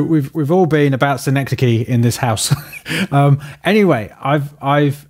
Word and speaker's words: synecdoche: about synecdoche of here's a my favorite mispronounced mispronunciation of synecdoche and this his voice saying sign Akana Dodie Jody which is which is really funny just the